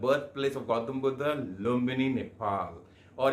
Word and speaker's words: लुम्बिनी: लुम्बिनी का प्रोनाउंस सही करो ना, लुम्बिनी।